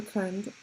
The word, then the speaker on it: Khunde: Um, Pardon, I'm not saying it correctly, but it's pronounced the Khunde. I obviously don't have the accent, but yeah, it's pronounced the Khunde, and it's a 5 foot long stick that is hooked on.